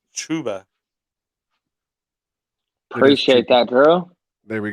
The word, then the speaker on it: Chuba: Pronounced Chuba.